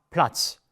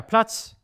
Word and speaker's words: Platz: Der Platz, der Schatz. So the T is not really heard.